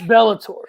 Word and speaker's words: Bellator: trouble with it is it fight legally it's bellator there you go got it that's gonna be